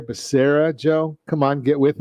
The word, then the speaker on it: Becerra: for hhs secretary yeah apparently they didn't get the pronunciation or the phonetics into the teleprompter for joe biden because it's javier becerra joe come on get